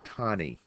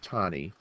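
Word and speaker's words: Taney: Uh this is Dread Scott on the left and the man on the right is Roger Tani pronounced Tonnie who was the Chief Justice of the Supreme Court.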